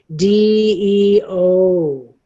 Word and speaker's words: DEO: This one is DEO. It's DEE-EE-OH. Okay? DEO.